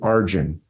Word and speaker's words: Arjuna: in the mahabarata there's a character named arjin Arjuna is how it's spelled that arjin he's a warrior he knows